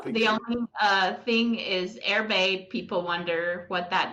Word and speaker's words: Erbe: I guess we've learned a different ways to pronounce it but it's airbag not Urban uh-huh very nice so um and it's in